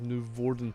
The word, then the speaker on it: Noevorden: So if I want to pronounce it Dutch way, you should stress on the first syllable of Noevorden. See, I always thought it was like Noevorden, like that.